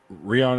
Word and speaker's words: Rihanna: chain top shelf lip Rihanna is pronounced like Ryan really Ryan okay all